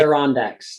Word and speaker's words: Adirondacks: small town, and I know I'm going to mispronounce this. Adirondack, how do you say it? Adirondacks, yeah, the Adirondack Mountains.